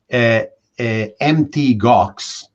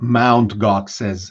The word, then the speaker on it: Mt. Gox: As an illustration of your point, that the gamers flocked to Bitcoin, Mt. Gox, which is not Mount Gox as some mistakenly pronounce it, was one of the first Bitcoin exchanges, then famously went bankrupt.